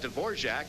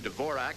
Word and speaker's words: Dvorak: Then there's Miroslav Dvorak, who's changed the pronunciation of his name to Dvorak, and that still hasn't helped his play.